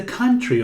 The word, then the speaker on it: country: Aqui não pronunciamos a letra O, temos can, country. O mesmo som daqui, sun, can, Sundays.